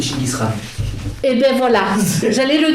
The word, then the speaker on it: Chinggis Khan: Il lui apprend aussi qu'il faut se méfier des Mongols, dont Gengis Khan. Là, j'ai délié. La prononciation mongole, c'est Chinggis Khan.